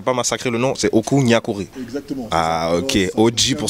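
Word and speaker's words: Okou Gnakouri: Comme on dit, on prononce bien, je veux pas massacrer le nom, c'est Oku Nyakuri.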